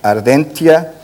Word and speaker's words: Ardentia: este prémio com o trabalho Ardentia. Há outras pronúncias, mas eu estou a pronunciar assim.